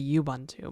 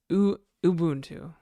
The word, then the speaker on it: Ubuntu: I used to say Yubuntu, but it's Ubuntu.